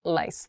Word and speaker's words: lice: every meal horrifying horrifying don't make this pronunciation mistake rice and lice lice think about how to clearly pronounce these rice is delicious